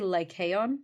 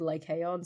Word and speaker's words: Lycaon: The story of, I'm going to say Lycaon, because I looked up way too many pronunciation guides for this, and they were all different. I hate that so much. I know. Can we all agree on one pronunciation? The one that said, I think this might be modern Greek, but they said Lycaon, so I'm going to go with the modern Greeks.